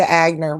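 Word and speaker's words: Wagner: We called it Agner in high school. yeah, it's Etienne Yeah. Agnier, Fossil. but that's the French. That's the French pronunciation for a German name. He's German. Oh, You know, okay. so I think it actually is Agner.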